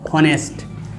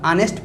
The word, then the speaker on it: honest: दर आप पढ़ते हैं, लेकिन इसका उच्चारण होता है ऑनेस्ट।